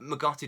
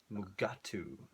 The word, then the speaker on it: Mugatu: Magu doesn't turn up for a very long time, which is a bit magu. Mugatu. All right. I pronounced a false word wrong.